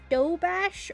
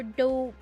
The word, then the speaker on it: doberge: So, there's this cake that I heard recently called often pronounced dough bash or doberge.